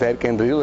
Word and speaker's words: Erich Endrillo: É um nome meio diferente assim, mas as pessoas às vezes têm dificuldade para pronunciar, mas é Eric Endrilho, exatamente.